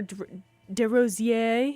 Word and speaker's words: DesRosiers: Andrews by DesRosiers, or DesRosiers, if you're pronouncing it the French way.